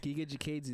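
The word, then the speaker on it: Giga Chikadze: Kachega or Giga Kachiga? Jikadze. Yeah, bro, Uh, we can say it properly. Giga Jikadze.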